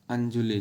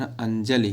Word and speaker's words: अंजलि: ये है अंजुलि, जो हम लोग कहते हैं हाथ में अंजुलि, तो इसका सबसे सही उच्चारण अंजलि है शब्द। अंजुलि शब्द नहीं सही है, कभी भी बोलने को बोला जाता है, लेकिन सही है अंजलि, और ला पे छोटी की मात्रा होगा।